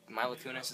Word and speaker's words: Mila Kunis: be Jennifer Aniston and Milo Mila Kunis is how you say she's she's pretty darn